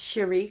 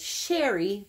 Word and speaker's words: Cherie: Her name is Sherry Crew. You guys may know her as Sherry, but it's pronounced Sherry.